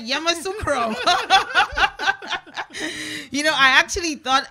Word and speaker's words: Yamoussoukro: I can't pronounce it. Try. Yamoussoukro. Correct, Yamoussoukro.